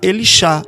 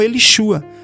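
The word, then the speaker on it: Elisha: E aqui está Elishá e não Elishua.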